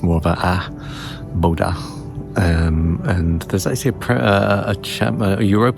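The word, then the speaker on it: Bodø: We're going to a place called Boda. Um, B O D O, but again with the O with the A strike through, so it's pronounced more of a a bodha.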